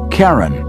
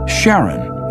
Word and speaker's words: Charon: Christie suggested the name Karen after the ferryman of Pluto's underworld in Greek mythology but preferred to pronounce it Charon more like his wife's name Charlene from the motions of